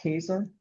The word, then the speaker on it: Käse: And uh um it's actually pronounced quaser. Sorry. Oh, it's a German word for cheese. Quasa. Yes. Yes. Quesa.